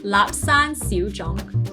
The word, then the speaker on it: Lapsang Souchong: Lapsang Souchong.